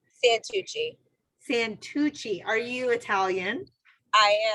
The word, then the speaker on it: Santucci: Santucci.